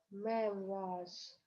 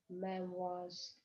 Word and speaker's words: memoirs: Memoirs. Буква S дает звук З. Memoirs.